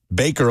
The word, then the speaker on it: Baker: Whatever happened to old Boker Mayfield? You think he actually slipped up, or you think that's just the way that he'd been pronouncing Baker Mayfield's name his entire life?